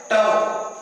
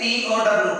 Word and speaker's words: tau: Torque is represented by tau, the inverted J, okay, mirrored J. So it is called tau. It is pronounced as TOW, tau.